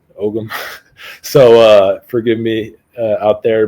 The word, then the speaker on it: Ogham: I believe over there they pronounce it Ogham. I'm American, so when I see a G, I say it, Ogham.